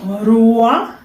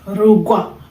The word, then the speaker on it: Kinyarwanda: So the RW, which will come later, it has the G sound in between. So Rugwa. So it's not Rua, but Rugwa. Ichinya Rugwa Rwanda. So you put that, even if you don't see it in writing, but you put it in pronunciation.